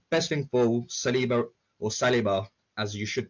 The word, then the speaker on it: Saliba: Best thing for Saliba, or Saliba, as you should pronounce it, is that come January, we loan him out.